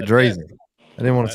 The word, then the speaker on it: Drazin: It originally, apparently what I've been told by like my great uncle, he's like, back in Yugoslavia, that's how it would be pronounced, as Drazin. But it sounds really pretentious. So I'm like, it's Drazin.